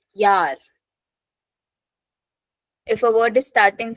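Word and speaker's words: Jahr: if a word is starting from J pronunciation y so Yar yeah J A HR Yar if a word is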